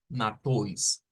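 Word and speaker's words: Matthäus: Pero luego la otra T se va a agarrar para aquí y vamos a pronunciarlo como toys, como una OI. O sea, esto se vuelve como una OI y con una especie de S como prolongada. Matois, matois.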